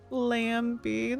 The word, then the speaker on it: Lambi: Her name was Lambi, but pronounced with the B. Lambi.